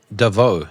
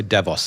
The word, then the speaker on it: Davos: importantly I love how you said Devo sounds fancy with a silent s like I'm I'm common dude I'm from Africa I just say Davos like no I'm Devo Devo yeah little bit of French still in there you know but yeah here in Africa we we we uh we're low class so we just say DeVos there's no silent s just DeVos um but yeah I